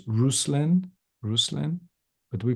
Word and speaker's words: Ruslan: russin and in his native uh Ukrainian is pronounced rousin rousin but we pronounce it russland here in the states and his last name